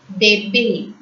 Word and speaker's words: bébé: B-E with an acute accent, bebe.